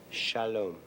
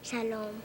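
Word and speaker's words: שלום: love and it's a lovely word and it's pronounced Shalom let me hear you say it Shalom yes Shalom and you know what you are in Hebrew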